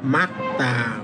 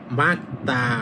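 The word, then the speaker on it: 맑다: দেখেন তখন এই যে দ্বিগু উচ্চারণ করবেন দুইবার এটা হবে মাকতা মানে পরিষ্কার আকাশ পরিষ্কার আমরা বলি না তখন এটা হবে মাকতা অর্থাৎ পরিষ্কার কার যেমন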